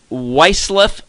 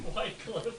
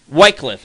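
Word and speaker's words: Wyclef: his name correctly uh weff Jean White Cliff Whitecliff excuse me thank you my producer just corrected me on the uh the pronunciation White Cliff I apologize for that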